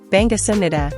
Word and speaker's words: 반갑습니다: The B in bang-GAP-seup-ni-da has a slight P sound, and the SUM-ni-da ending has a soft M sound before the N. Be careful not to drop the P sound.